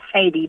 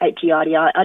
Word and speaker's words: Heidi: It's actually pronounced Heidi, but because it's spelled H-E-I-D, I just tell people it's Heidi.